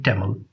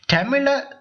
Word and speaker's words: தமிழ்: என்னால தமிழ் கதைக்க முடியும் தமிழை தமிழ் என்று சொல்லணுமா தமிழ் என்று சொல்லணுமா என்று கேட்டீங்கன்னா நான் வந்து தமிழ் என்று சொல்லணும்னு தான் சொல்லணும் தமிழ் வந்து எங்களுடைய மொழி தமிழை நாங்க எப்படி உச்சரிக்கிறோமோ அதை போல மற்ற ஆட்களும் உச்சரிச்சா ரொம்ப நல்லா இருக்கும் அப்படின்றது என்னுடைய ஏனென்றால் எங்களுக்கு சிறப்பே லகரம் லகரம் தானே அப்ப தமிழ் என்று சொல்லைக்குள்ள அழகா சொல்லணும் தமிழ் அப்படின்னு சொல்லி அசிங்கமா சொல்லக்கூடாது ஓகே ஐ கேன் ஸ்பீக்